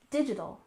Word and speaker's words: digital: challenging next we have digital detox we stress the first syllable and we tend to soften that t sound digital digital and detox we